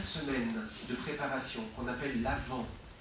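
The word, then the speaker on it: Avent: de préparation qu'on appelle l'avant parce que la venue de Jésus l'avant ça s'écrit a V e nt c'est pas une feu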